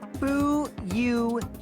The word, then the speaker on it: Fuyuhiko: My first name is pronounced Fuyuhiko.